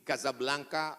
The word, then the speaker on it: Casablanca: kuliah nama negaranya Maroko ibukotanya tulisannya Casablanca cara bacanya Kadzab langka Kaza artinya rumah Blanca artinya putih Kasablanka rumah warna putih bahasa